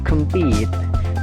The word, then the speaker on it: compete: Yang ketiga, compete, jadi pitnya itu ditekan, kemnya itu kan dibaca pecel ya, kem ya, jadi singkat, kemnya singkat, compete, pitnya itu ditekankan.